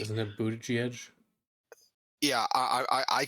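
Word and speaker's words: Buttigieg: Minnesota Shapiro the governor of Pennsylvania and Pete boot gig I will never pronounce his last name correctly isn't it boot Edge yeah I I I I can't say that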